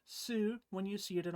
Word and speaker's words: 数: thing this kanji Kazu will most often be pronounced Kazu when you see it by itself and will most often be pronounced Su when you see it